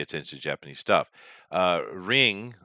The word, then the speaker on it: Ringu: to Japanese stuff uh ring or ringu if you want to go with a Japanese pronunciation um is way better